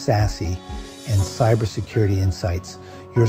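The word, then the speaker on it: SASE: Value in these discussions on SAS secure access service edge pronounced sassy and cyber security insights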